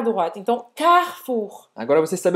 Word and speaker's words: carrefour: Mas não é Carrefour, é Carrefour. Carrefour.